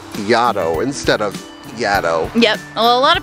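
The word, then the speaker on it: Yaddo: said Yad instead of Yad yep well a lot of people say Yad it's it it seems like the natural but it's actually supposed to rhyme with Shadow because the uh the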